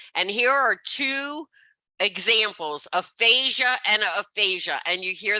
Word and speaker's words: aphasia: And here are two examples, aphasia and aphasia. And you hear the way I say it? They both sound exactly the same.